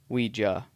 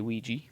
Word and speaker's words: Ouija: Now the name Ouija, or Ouija, depending, I kind of feel like it's how you pronounce it's where you're from. We say Ouija, you may say Ouija.